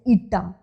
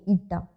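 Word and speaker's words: η: Coefficient of viscosity, and it's pronunciation is ईटा, ETA, ईटा, alright, coefficient of viscosity, alright.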